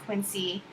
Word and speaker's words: Quincy: you can see he mispronounced Quincy instead of the Soft C C he put a hard uh c in there and he did that with